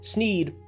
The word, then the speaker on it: Sneed: it explained uh so sneed rhymes with feed and seed so if you put